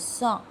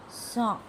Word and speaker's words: cent: The last and the least will be your 100 is cent. Cent. 100 pronounced as cent.